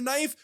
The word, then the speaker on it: knife: You want to call it a knife? Just call it a knife. Fuck the K.